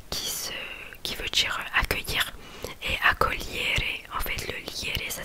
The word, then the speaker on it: accogliere: J'ai un autre exemple aussi que j'ai écrit, accogliere, donc qui veut dire accueillir, et accogliere en fait le liere ça s'écrit G-L-I E-2-R-E mais du coup le G ne se prononce pas.